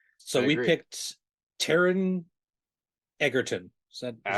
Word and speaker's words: Taron Egerton: picked Taron Egerton. Is that how we pronounce his name?